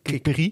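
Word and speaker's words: Kick Pierie: Spreek je dat zo uit eigenlijk? Kick Piri. Ja.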